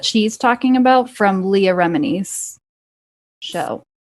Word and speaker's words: Remini: talking about from leah remini's show i want to call her leah romini because her name is italian and if you speak italian that's how you would pronounce it but everyone says remini anyway yeah i just